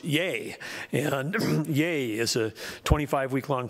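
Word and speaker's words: YEA!: YEA exclamation mark is there is YEA with an exclamation mark is pronounced yay, and yay is a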